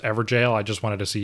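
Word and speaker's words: Evergaol: a double take okay for real though it's pronounced ever jail I just wanted to see you squirm we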